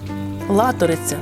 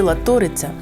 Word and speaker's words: Латориця: пройдуся вздовж річки Латориця Латориця чи Латориця не поправляйте мене бо наголос буде правильний і так і так у давнину Латориця протікала